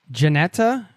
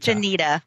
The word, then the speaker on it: Jenita: pronouncing your name correctly is it Janetta or Janita Janita Janita Janita darn it I was like it's either janeta or Janita all and some people even call me Wanita I'm like really Wanita